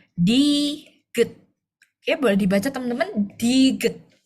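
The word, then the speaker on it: 디귿: Kalau misal dia di awal bacanya D. Tapi kalau dia posisinya di akhir atau di bawah bacanya T. Jadi ini bacanya diget.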